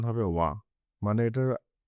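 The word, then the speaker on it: は: ভাষায় সবসময় সাবজেক্টের পরে হা পার্টিকেল বসে যার উচ্চারণ হবে ওয়া মানে এটার উচ্চারণ ওয়া হবে।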